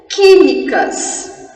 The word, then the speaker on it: química: Químicas. Olha o QU seguido de I, para, espera e pensa. Eu pronuncio o U, química? Não. Então, ele é dígrafo.